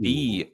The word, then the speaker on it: Boehm: Jacob Beam, originally Johannes Jacob Beam, or I'm sorry, Jacob Boehm, spelled Boehm, but pronounced Boehm, apparently. Interesting.